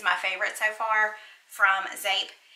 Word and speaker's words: Zeep: It's spelled Z-E-E-P, so it looks like Zeep, but it's pronounced Zape.